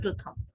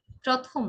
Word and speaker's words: প্রথম: প্রথমে যে শব্দটি রয়েছে তা হলো প্রথম। এই শব্দকে আমরা অনেকে উচ্চারণ করি প্রথম। প্রথম নয়, এর উচ্চারণ হবে প্রথম।